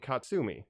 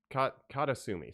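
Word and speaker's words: 片隅: And then one called Katsumi. Yeah, she. It's also listed on Letterboxd as In the Corner, but it's Katasumi.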